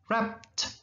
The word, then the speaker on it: wrapped: Wrap, kalau pakai ed jadi t bunyinya. Wrapped, nah ada t.